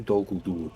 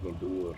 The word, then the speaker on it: Dol Guldur: That's did you hear me pronounce that, by the way? Dol Guldur. That was very good, wasn't it? Dol Guldur.